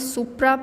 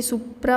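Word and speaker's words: supra: तो पहला है intermittent catheter, next इंडवेलिंग catheter, third one इज सुप्रा pubic catheter and condom catheter. ये सुप्रा होता है, सुपुरा नहीं, ठीक है, तो ये स्पेलिंग होगी, ठीक है, सुप्रा प्यूबिक कैथेटर, ठीक है।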